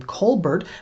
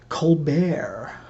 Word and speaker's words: Colbert: pronounce their own name which is why a lawyer here in Tulsa can advertise on TV under the name Kolbert while the pretentious comedian on national TV can pronounce it colbert my problem is that